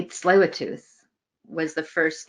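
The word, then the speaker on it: Tsleil-Waututh: Indian Band so learning how to say this Lua tooth was the first like okay so this is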